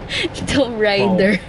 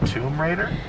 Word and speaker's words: Tomb Raider: i knew the the right um pronunciation i pronounce it as tom ryder tom ryder yeah at first i didn't even know what she was talking about and then she's i'm like what oh you mean tomb raider yeah it's what is it honey tomb raider